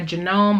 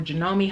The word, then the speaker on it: Janome: of course i have my genome or janome however you want to pronounce it hd 3000 which was